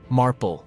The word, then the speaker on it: Marple: Marple rhymes with marble.